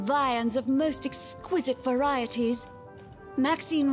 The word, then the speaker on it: Maxine: of most Exquisite varieties Maxine rhymes with Queen after all and but